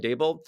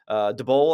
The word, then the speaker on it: Daboll: to and not Brian Daboll? DeBoll, I think is actually how you say it, according to the press conference.